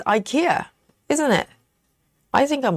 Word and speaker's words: IKEA: is, you know, my bed is IKEA.